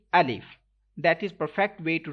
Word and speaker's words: alif: listen to me carefully first letter is alif some people pronounce it i love some some people pronounce it and if like some uh people like uh stretch this letter and some people uh don't read in arabic accent so we have to read alif that is perfect way